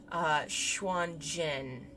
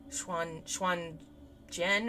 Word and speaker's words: Xuanzhen: I've only recently learned that Z's are J's. Xuanzhen. Xuanzhen or John?